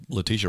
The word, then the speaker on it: Letitia: Letitha Wright, I can never pronounce her first name. Black Panther. Shuri. So, yeah. And so Letitia Wright.